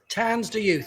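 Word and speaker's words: Tanz Der Youth: He was in a band called, how do you pronounce it? Tansder Youth? Tansder Youth, exactly.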